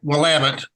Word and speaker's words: Willamette: We call it Willamette, and it rhymes with damn it, so we say Willamette, damn it.